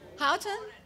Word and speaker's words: Houghton: Houghton?